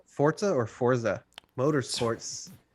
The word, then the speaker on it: Forza: a month out is forza forza or forza motorsports it's forza forza motorsport i will bet you that that's how it's pronounced there's an invisible t in there it's italian forza that's why it's got